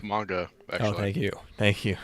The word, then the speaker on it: manga: Oh, and also it's adapted from a manga, by the way. It's pronounced manga, actually.